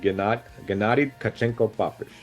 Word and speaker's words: Gennady Tkachenko Papish: So it's Gennady Tkachenko Papish.